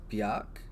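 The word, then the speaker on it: Björk: the pronouns real quick i think this is bjork i i think it's pronounced bjock um they important um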